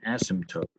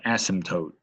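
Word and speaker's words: asymptote: words it's called an ASM toote okay it's like the p is silent so it's called ASM toote and what that means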